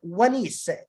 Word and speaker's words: Wanis: This rabbit is pronounced win, and this is a confirmation, another N. This is like the water, and this is E and this is S. So when in Nis or Wanis.